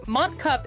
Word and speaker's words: Montcuq: Life here's the twist in French Mont cup is pronounced identically to well my ass given the French ponant